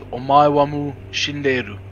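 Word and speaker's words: お前はもう死んでいる: Hawaii wa Mushindeu! Say it properly, you godless heathen. That's Omaiwamu Shinderu.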